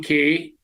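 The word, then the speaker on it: Cay: Well, they they go with key because they don't say it's perfect day at Half Moon K. So they call it key just like they call it celebration key. You can pronounce it any way you want, but it is a beautiful place.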